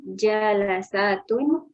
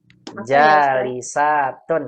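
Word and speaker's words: جالساتٌ: Raqam arba'ah al-ummahatu jalasatun amamal masjidi. Salah Ibu, bacanya salah. Al-ummahatu Jalasatun enggak ada. Jalasatun enggak ada. Apa ini, Bu? Jalisatun yang benar Ibu.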